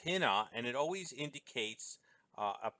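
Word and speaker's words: ἵνα: first word of the cause okay and it's pronounced tena and it always indicates a purpose or at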